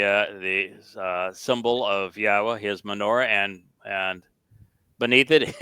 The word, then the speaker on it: Yahowah: know how to pronounce yahwah's name it's the uh yah and the ah are from the verb haa and the o sound comes from Torah so this is not